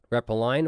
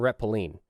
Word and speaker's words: retpoline: return and trampoline and it can be pronounced two different ways rep a line or reppillin rep a line because the last four letters are line um and repyline because the it actually stands for return and trampoline so trampoline